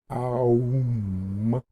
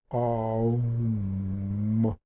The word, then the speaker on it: om: in your whole being like the OM sometimes spelled o m sound or it can also be spelled a-u-m um is how you basically pronounce it um and when you say